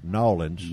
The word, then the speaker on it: New Orleans: come to to let me say it right nawlins nawlins yeah if we happen to come to